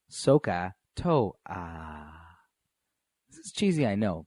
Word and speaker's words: SOHCAHTOA: We pronounce it like SOHCAHTOA.